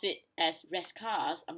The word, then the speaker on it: Rascasse: And then the next one is, yeah, this is the one that bugs me most, because like it's supposed to be Rescars, like Rescars, if I'm not mistaken, Rescars.